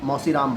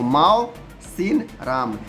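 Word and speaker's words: Mawsynram: फिर यहाँ डिड you know करके जो भी मैंने बताया जस्ट पीछे ही, कौन वाला, मौसी राम वाला।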